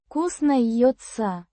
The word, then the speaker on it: кузнеца: Pronounced Кузнеца. with the stress on the second syllable.